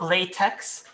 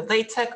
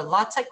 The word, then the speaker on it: LaTeX: sharing but it's beyond it's not latex it's either latex or lattek whichever you prefer and why do we